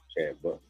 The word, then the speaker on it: Chad Butler: Chad Butler. Brad Cutler. It rhymes with Brad Cutler. Chad Butler.